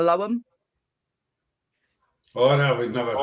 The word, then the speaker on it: Loam: I quite often get echoes from the loom, or those that read it exactly as it's spelt, and I'll get echoes from the loam.